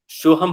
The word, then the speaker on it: सोहम: ओम कैसे होता है, ओम को बीज मंत्र आ उ अम्मा, वैसे ही सोहम का बीज मंत्र क्या हो गया, स अह हम।